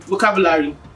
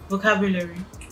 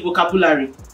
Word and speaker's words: vocabulary: say the word um vocabulary vocabulary most people say vocabulary oh yeah so you need to know like where the stress is and how to pronounce those words vocabulary something like that so